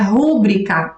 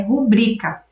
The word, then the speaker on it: rubrica: pronuncia da forma equivocada a maioria das pessoas pronuncia rúbrica e até escreve rúbrica com acento como se fosse uma palavra proparoxítona mas na verdade essa é uma palavra paroxítona por mais feio que possa parecer tá é uma palavra paroxítona a forma correta de pronunciar é rubrica Tá mas a maioria